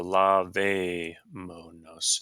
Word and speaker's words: lavémonos: So lavémonos, and that's on the 3rd syllable back from the end. And anytime you have a word where the stress falls in the 3rd one back, you have to have a written accent mark there.